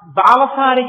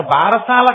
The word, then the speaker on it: బాలసారే: గబగబా చాలా ఏదో ఆ బాలసారి చేస్తుంటారు బాలసాల కాదు బాలసారే బాలసారే అంటే బాలునకు ఇస్తున్న సారే కాలుక దాని బాలసాల బాల బాలసాల బాలసాల ఎంత భారమైనా ఇక్కించారు అసలు దాని ఉచ్చారణ బాలసారే బాలసారే యందు ముందు ఆ ప్రసవమైనటువంటి